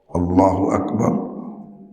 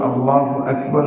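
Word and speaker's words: الله أكبر: আল্লাহ, আল্লাহ আকবার, আকবার, হামজা পরে কাফ, আক।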